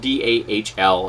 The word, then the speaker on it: Dahl: Now, the name is spelled D-A-H-L, and it's a female actor. But naming an actor Dahl, which can also be spelled D-O-L-L, an inanimate object that you play with, to me was somewhat problematic.